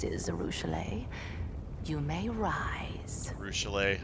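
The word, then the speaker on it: Arueshalae: Arushale. I've been saying her name wrong this whole time, I guess. I probably will continue to because I'm used to Arushalia.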